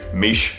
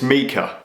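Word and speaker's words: Miche: of you will have corrected my pronunciation of mika it's mika why did i say mish i've literally been to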